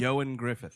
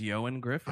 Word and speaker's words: Ioan Gruffudd: It says his name is pronounced Ioan Griffith.